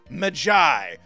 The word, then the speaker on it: Maggie: did indeed leave a name Maggie but is pronounced Magi he was a fan